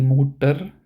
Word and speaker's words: Mutter: So here we pronounce it as der Doktor, die Mutter, der Vater, der Bruder. So it may sound like we ignore the R part completely.